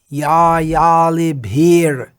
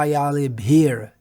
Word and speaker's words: yalibhir: Ya yalibhir yuktir apekshaniya. Ya yalibhir yuktir apekshaniya. So we may just leave out that r sound, but it's better to try to pronounce it. Ya yalibhir, not ya yalibhi.